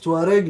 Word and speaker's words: Touareg: entend ça c'est ça se prononce Tareg mais Tareg c'est un nom qui nous est donné par les français mais en vrai nous on s'appelle Kelamache.